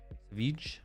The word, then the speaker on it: Savich: Is it just Savages? It's not Savages though. Savich.